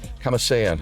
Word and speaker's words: Kamasean: Kamasean, I got that name right, please? Yeah, yes. Kamasean, you said it right.